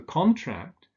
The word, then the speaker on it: contract: but unemployment increased so with the noun the stress falls on the first syllable with a verb on the second syllable and there are some similar examples for instance he signed the contract but he contracted the